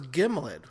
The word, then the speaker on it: gimlet: I I always thought it was gimllet. Hard hard g sound.